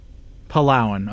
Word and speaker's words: Palauan: How do you pronounce it? Palauan. Palauan.